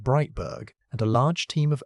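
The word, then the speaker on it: Breitburg: In 2018, Denise Breitberg, pronounced Breitberg, and a large team of ocean scientists published a review in the journal Science pulling together decades of oxygen measurements.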